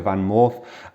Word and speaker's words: VanMoof: Did you know that in Dutch it's double O makes a long O sound, which is or, so it's actually a VanMoof, and I'm going to be comparing it to the Cowboy, which everybody does.